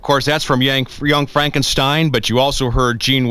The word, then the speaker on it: Frankenstein: Frankenstein that's frank enstein I beg your pardon my name it's pronounced frank enstein but aren't you the grandson of the famous dr.